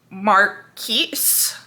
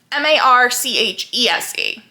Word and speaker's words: Marchese: speak Italian, so things are going to be pronounced horribly wrong, probably, of a Marchese, M-A-R-C-H E-R-E-E-S-E, I think. Is it on the back? Of course it's not on. No, it is. Marchese.